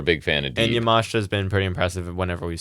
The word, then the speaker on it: Yamashita: She defeated Miyu Yamashita, right? Is the right way to say it? Kind of like Takeshita, yeah.